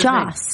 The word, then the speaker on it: Joss: All right, someone is saying it's Josh, not Josh. Is that it? How do you say it? Joss. I said Joss.